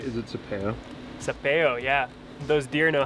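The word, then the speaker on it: Sapello: Sapeo, yeah.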